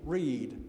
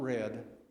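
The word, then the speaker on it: Read: The name is Reed, not Red.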